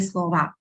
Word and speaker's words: слово: But you hear me pronouncing A because letter O is not stressed. You see слово, but I say слова, right?